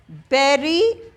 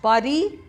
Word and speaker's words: bury: अब next, to bury the hatchet. It is not bury. Phonetics है आपके course में, you can open your phone, go to Oxford Advanced and check the pronunciation. It is bury, not bury.